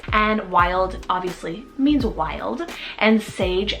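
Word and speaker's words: Wylde: We have the neutral pair here, Wild and Sage.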